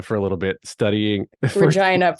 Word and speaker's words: Regina: a little bit studying Regina pronounce it as it need need be pronounced it's Regina Regina yeah Regina lean right into the most embarrassing way you could pronounce that word okay University of Regina